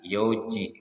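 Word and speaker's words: よ: Angka 4 bukan yong, tetapi untuk jam menjadi yo.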